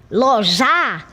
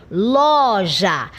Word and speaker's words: loja: Porque se eu disser ljará, então a sílaba tônica se torna a última sílaba já. Mas não é assim que eu pronuncio. Eu pronuncio loja. Então observe que eu imprimo, eu coloco maior ênfase na sílaba inicial, na sílaba ló.